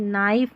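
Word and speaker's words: knife: न पढ़ना है क्योंकि के साइलेंट है। देखिए नाइफ नॉट नाइफ नॉट में के साइलेंट है।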